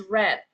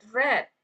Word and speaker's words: read: Oke, so we the past tense of read is red. read red. Oke. Nah, eh mungkin kalimat kata read ini a little bit confusing because eh the spelling is the same but the pronunciation is totally different depends